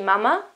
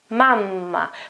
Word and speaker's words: mamma: No, it is important to pronounce that double consonant, I have to stay there for a moment with my voice. Mamma, mamma.